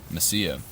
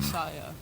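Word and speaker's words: Mesilla: Messia. That's it. Not Messiah. No. Spelled with a double L, which is a Y in Spanish.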